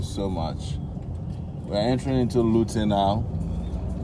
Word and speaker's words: Luton: We're entering into Luton now. Luton, no, not be Lutino.